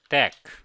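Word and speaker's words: deque: I will pronounce this word deck.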